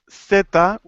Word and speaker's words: seta: okay so I noticed you're using more of the uh Spanish um pronunciation which is similar to the th in English the sap that's good uh in Latin America seta the sound most countries uh it will be similar to the S so most countries in